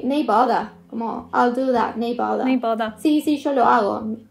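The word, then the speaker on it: nae bother: Otra frase que se escucha mucho acá, es el neighbor. Neighbor. Que se escribe N-A-E, uh-huh, que es el no worries. Claro. O no hay problema. No bother. No hay problema, pero acá lo dicen neighbor.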